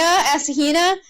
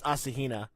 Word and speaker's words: Asahina: to Asahina aura scheana you pronounced it doesn't matter I think the actual pronunciation is Asahina oh yeah I just